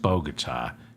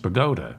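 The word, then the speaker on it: Bogota: the streets of boata New Jersey and it's pronounced bogot not bot no hold it it's pronounced bagota New Jersey I'm from New Jersey it's it's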